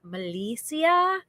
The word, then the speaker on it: Melissa: Melissa in here and it's spelled the same way one l two s's but it's actually pronounced melissia and uh she got